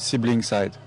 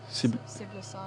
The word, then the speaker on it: siblicide: Sibling-side. Siblicide.